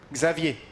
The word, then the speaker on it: Xavier: yeah because in in in Portuguese the X will become a sh but in French it's a oh wow okay Xavier Andre and the last X you don't pronounce yeah okay so zavier